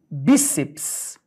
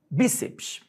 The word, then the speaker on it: bíceps: que tal a palavra bíceps bíceps observa cuidado viu BPS duas sílabas A cabat tá no bi o essa pen última sílaba parox terminada em ps é acentuada depis eu fi da